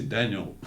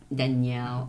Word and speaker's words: Daniel: American friends call me Danielle, but some say Daniel. Oh yeah, Daniel. So and Julien or Julien or whatever. Dan, they call you Dan. Oh, Dan. Yeah, exactly. Yeah. They don't say Danielle.